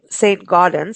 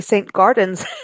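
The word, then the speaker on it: Saint-Gaudens: looks beautiful I mean I know it's s St Goden and it's about Augustus um who is an incredible sculptor but um when I look at this I'm like the gardens it should be St Gardens the gardens look beautiful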